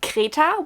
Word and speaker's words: Kreta: called in German, and we pronounce it Kreta, which is a little different, so I'm always just like, I'm confused.